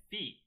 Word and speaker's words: phi: theta oops sorry no it's not it's called phi i meant phi and i i misspoke so